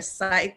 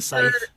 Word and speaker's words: scythe: and that screw jim how do you say that word is it a sith or a site you know that big i know what you're talking about i think it's a scythe yeah so like once